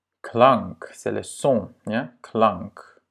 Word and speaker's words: klank: Klank. Et à nouveau, c'est un A court parce qu'il est suivi de 2 consonnes.